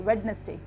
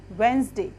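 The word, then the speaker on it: Wednesday: ये जिसको हम बोलते हम इसको मोस्ट लोग गलत बोलते हैं इसको वेडनेसडे बोलते हैं क्या बोलते हैं इसको वेडनेसडे लेकिन इसमें डिप साइलेंट होता है और इसका रूल होता है कि दिल्ली लैटर से पहले या तो कोई वॉल्व हो या फिर 13 लैटर से पहले इन हो तो उसको उस मेडिकल साउंड कैसा रहता है साइलेंट रहता है तो वैन स्टेख वेनसडे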